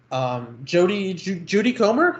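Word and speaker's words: Jodie Comer: Judy Comer, is that how you say her name? Yes, that's correct.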